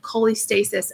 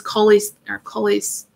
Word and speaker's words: cholestasis: This is colis. Yeah, I'm saying it wrong because I'm messing up with what. That's how you said it, though. Yeah, but it's not that. It's Cholestasis.